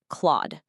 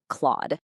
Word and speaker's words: Clawd: sometimes, it is pronounced Claude. It rhymes with the thing a cat does with its claws. Definitely not Claude.